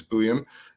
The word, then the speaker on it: Buium: I got Z buam I figured out how to pronounce it finally after after a year of trying it's boam uh 6 foot 185